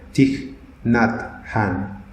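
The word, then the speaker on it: Thích Nhất Hạnh: beritasemen punes itu adalah diknat Khan ini dia orang Vietnam bacanya Cik natham dia nulis begini dalam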